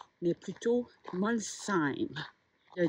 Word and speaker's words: Molsheim: qui finissent en EIM, on ne prononce pas le H. Donc ce n'est pas Molsheim, mais plutôt Molsheim.